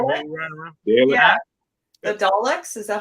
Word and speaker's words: Daleks: The Daleks, is that how you say it?